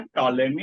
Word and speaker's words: Ptolemy: आदमी का नाम था टॉलेमी। और उसका स्पेलिंग लर्न करना है। बोलेंगे टॉलेमी, लेकिन लिखना है पी से, Ptolemy।